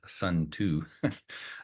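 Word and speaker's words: Sunzi: of quotes from sza who is frequently pron pronounced as sun to uh he's the author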